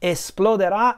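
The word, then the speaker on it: esploderà: it inside of me explodera is it will explode once again a future tense with the stress on the last syllable and then it proceeds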